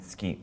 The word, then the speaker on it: 月: You also see this as getsuyobi, which is Monday, and tsuki, which just means moon.